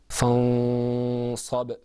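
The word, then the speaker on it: فَانْصَبْ: So let the example that you see is pronounced without ikhfa, fansab. With ikhfa, it's pronounced fansab.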